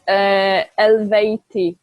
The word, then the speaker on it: Eluveitie: It's Yeah, it's Eluveitie. You don't pronounce Eluveitie. the U; it's just Uh, Eluveitie.